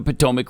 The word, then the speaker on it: Potomac: It's literally It's spelled spelled just like it sounds. Potomac.